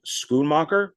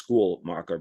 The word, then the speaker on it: Schoonmaker: So Thelma, I probably pronounced the name wrong. Schoonmaker. I guess it's Schoolmaker, but it's Schoonmaker.